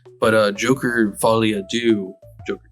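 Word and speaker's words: Folie à Deux: I know that was a joke to make do sound rhyme with two, but uh Joker folly do.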